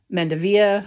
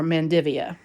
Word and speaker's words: Mandevilla: uh and it's got I've heard two different pronunciations for it it's either mendevilla or mendivia depending on who you talk to and it's just